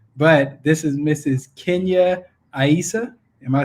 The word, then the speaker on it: Aissa: Kenya Aissa. Am I saying that correctly? You are saying it correctly, but we mostly say Asa. My husband's Asa. family says Asa, yes.